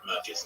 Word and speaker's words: Macca's: No, you're pronouncing it wrong. It's Marcus and some informal nickname now.